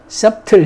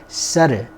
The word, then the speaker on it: subtle: 여기서 B를 발음하면 안 돼요. subtle 이런 식으로 하면 안 돼. subtle.